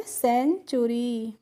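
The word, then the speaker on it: century: और टी यू को पढ़ेंगे चू, जो टी होता है इसका प्रोनाउंसिएशन क्या होगा, च होगा, तो ये हो गया सेंचु। और आर वाई का हो गया री, तो इसको हम पढ़ेंगे सेंचुरी। अब है देखिए सी ई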